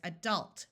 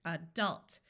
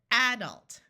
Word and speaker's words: adult: say this word as adult where the awas and the second syllable is accented listen again adult there are some people that pronounce it adult where the first syllable